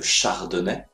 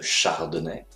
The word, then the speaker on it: chardonnay: 20 alors regardons ensemble pour avoir la bonne prononciation on commence de manière alphabétique avec la ligoter la ligoter le chardonnay le chardonnay le merlot le merlot le muscat le muscat